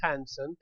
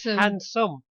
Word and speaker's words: Hansen: Because everybody in the chat room didn't say Hansen. They said handsome.